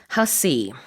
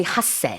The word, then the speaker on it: Hussey: Right, let's talk about the actress Olivia Hussey. In Olivia Korea, we say Hasse, but it's a different pronunciation.